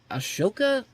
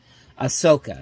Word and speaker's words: Ahsoka: the Mandalorian I think aoka is a Asoka I feel like I'm mispronouncing this Lane let me see is I just want to see if I get this right here Ahsoka Ahsoka Ahsoka that's what that's the pronunciation I'm trying to look for here but um yeah